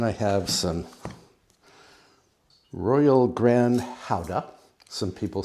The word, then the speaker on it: Gouda: And then I have some royal grand howa. Some people say gura. It is pronounced howa. I know it's pronounced howa because someone well a Danish person corrected me when I said gouda.